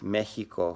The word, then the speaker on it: México: de las diferencias fonéticas por ejemplo texas méxico javier pronuncia el x como en tijeras se escribe con jota en este x no la